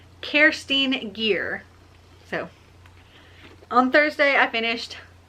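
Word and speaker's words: Kerstin Gier: to look at it i thought it was pronounced kirsten guyer but it's actually pronounced kerstine gear so on thursday i finished sapphire blue by kirsten gear and i'm gonna give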